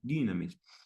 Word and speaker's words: dynamis: Dynamis, se pronuncia con la I salida para enfrente, dynamis, que es poder.